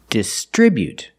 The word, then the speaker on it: distribute: First let's look at the verb distribute. We put the stress on the second syllable distribute.